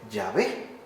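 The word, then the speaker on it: Yahvé: así escrito pero con caracteres hebreos solamente debía pronunciarse llave Aunque por aquella época no fuera ya Siquiera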